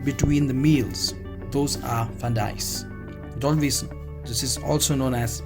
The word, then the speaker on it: Friandises: The pronunciation of this is Friandises, the French word for a delicacy when referring to pastries or sweetmeats.